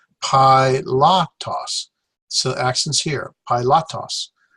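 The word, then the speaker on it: Πιλᾶτος: ha and pilots name there's one two three bowel three syllables PI lock toss so actions here PI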